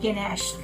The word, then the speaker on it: ganache: the cream naginayan idea how to pronounce it properly chocolate ganache but we can call